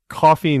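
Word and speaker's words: Coffey: It's coffee not like you drink. It's spelled c o ff y and that's different than a a column sill.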